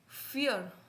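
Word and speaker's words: vier: कि वी को मैंने पीछे बताया वी को वी नहीं बोलेंगे क्या प्रोनाउंस करेंगे कैसे स्पेल आउट करेंगे फ के तौर पे कैसे फ सो फियर फियर फियर ठीक है थोड़ा सा कॉम्प्लिकेट लगे फियर फियर बोलेंगे आर नहीं आर की साउंड नहीं आनी चाहिए फियर फियर का मतलब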